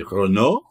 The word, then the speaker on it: Renault: Renault or if you want to pronounce it properly Renault have just released in